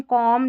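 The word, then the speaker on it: comb: MB जब रहता है ना, स्पेलिंग के आखिर में देखिए MB आ रहा है ना, तो B साइलेंट है। क्लाइम, थम, कॉम, लैम और बॉम, तो थम, ठीक है, B का उच्चारण नहीं हो रहा है।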